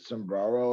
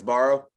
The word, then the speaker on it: Sbarro: I can't pronounce it. Sombrero or whatever. Sombrero. SBARRO. Yeah, it's always at those like malls. Yeah, it's Barrow.